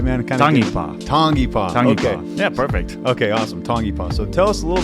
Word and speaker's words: Tangipa: going to get into this name is David tangapa did I pronounce that right man yeah perfect okay awesome tongipa so tell us a little bit about what